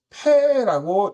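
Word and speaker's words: פא: 패는 피읍 음가를 가지고 있고 영어의 P에 해당을 합니다.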